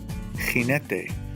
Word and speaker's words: jinete: A GE and a GI. Generoso. Jinete. Notice my pronunciation of the G?